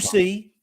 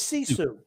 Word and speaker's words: sisu: It's not Susie. It's Sisu.